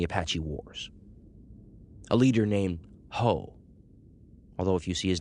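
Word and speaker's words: Juh: Ace was the son of one of the most famous of all the Apache chiefs during the Apache Wars, a leader named Hoe.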